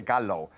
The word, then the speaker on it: gallo: But we've got a pico de gallo. I have no idea what that is. What does it mean, Aiden? Pico de gallo, the L is silent. Gallo. Yeah, it's like Gallo.